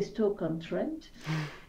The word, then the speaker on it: Stoke-on-Trent: C'est Stoke-on-Trent, et donc en Angleterre, je devrais prononcer Stoke-on-Trent.